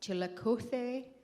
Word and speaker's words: Chillicothe: And for all of us Chillicothe, Missouri, that's how they say it, gringos, basically the extent of our Spanish was being able to order at El Toro.